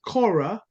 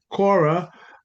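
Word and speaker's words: chora: country so um the word country is Cora uh which uh Cora uh is see we would spell it c-h-o-r-a Cora like that um is is uh sorry c-h-o-r-a does that what you said no I said k no not kids they're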